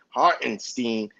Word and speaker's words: Hartenstein: He even pronounced the boy name right, Hartenstein.